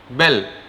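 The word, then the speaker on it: Belle: आप, तो straight of बेल, BELL, यू can pronounce it बेले और बेल, स्ट्रेट ऑफ बेल।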